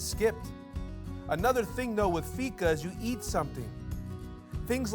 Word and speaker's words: fika: Now, the Swedish word fika, pronounced fika, means to have coffee or a coffee break.